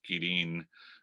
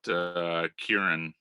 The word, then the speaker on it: Quirin: The correct Spanish pronunciation of my last name is Quirin, but Quirin is fine.